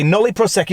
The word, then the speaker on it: nolle prosequi: Now, it seems I may be mispronouncing the term, but let's just check with that YouTube pronunciation site. Nolle prosequi.